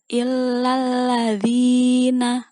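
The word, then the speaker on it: إِلَّا الَّذِينَ: Di kata illalladzi ada tasdid seperti biasa, kita dengungkan illalladzina. Oke, alladzina, dalnya yang panjang.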